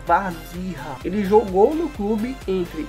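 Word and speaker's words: Warzycha: nome aí bem complicado, a pronúncia seria mais ou menos assim, ó, Wazira.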